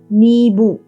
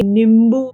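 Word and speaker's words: नींबू: Neebu. Okay. Depending on where you are, you can say neebu, you can say nimbu, so have a m sound. So that's also, it's the same thing.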